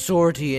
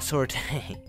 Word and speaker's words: sortie: Which I found out is pronounced sortie and not sorte.